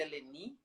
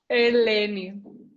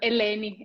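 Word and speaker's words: Ελένη: estou falando certo, é Eleni? Então, quase. Helene. Eleni. O meu nome é pronunciado Helene em grego, que é o meu país natal.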